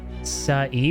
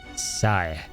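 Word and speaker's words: Sae: Say is pronounced like Sa-e, by the way. Ah, okay. Like Sa as in sanity. And as an egg. So, Sai.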